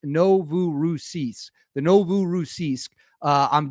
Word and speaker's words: Novorossiysk: Sources say the Novaroski uh now I believe this is pronounced Novu Rousis.